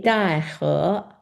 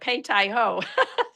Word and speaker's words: Beidahe: Beidahe. Okay. See, I always called it Pei Tai Ho. You can call it that.